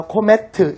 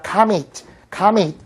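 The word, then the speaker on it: comet: 이것도 산티나게 어디 가서 코메트 이러지 마시고요. 카밋이라고 발음합니다. 카밋.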